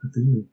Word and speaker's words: Cthulhu: play Call of Kulu of Kulu pronouncing without the th anyway so thanks PJ